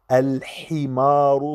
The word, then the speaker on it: الحمار: من 1 إلى 10 الحمار الحي انتبهوا مع الحاء لأن هناك من لا ينطقها جيدا أو يقول ال ال يجب أن تنطقوها الحمار صغير والحصان كبير الحمار